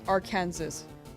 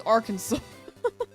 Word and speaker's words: Arkansas: someone just being like, "Why is this one Kansas and this one not our Kansas?" What do you mean it's Arkansas?